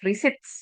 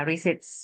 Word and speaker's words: receipts: When you send a claim letter, provide documentation such as receipts. Ya, this one is pronounced receipts, ya. Jadi, T-nya tidak dibaca ya. Receits ya, invoices, photos of damage goods or others.